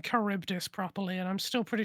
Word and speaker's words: Charybdis: It took me a very long time to start pronouncing Charybdis properly, and I'm still pretty sure it's not entirely correct, so...